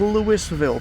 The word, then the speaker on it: Louisville: I can understand Louisville because of how it's spelled. But no, it's Louisville. Take that from a guy that lives here.